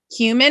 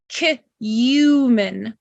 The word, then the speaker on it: cumin: It's the cumin. Okay? It's very similar to saying the word cumin. We don't say cumin. We say cumin.